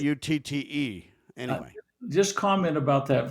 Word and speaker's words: Rutte: warns NATO chief Mark, and how do you say it, Root or Rut? Let me just Rutte.